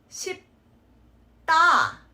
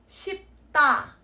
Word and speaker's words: 쉽다: read as 싶다, but that P on the bottom will affect the sound of the D, turn it into a double consonant sound. So it's 쉽다, 쉽다.